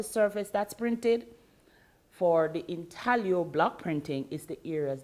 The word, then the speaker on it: intaglio: now in size or intellio block printing in tahlio it's spelt intaglio but pronounced intaglio yes in size